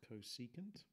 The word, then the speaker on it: cosecant: Pronounced cosecant.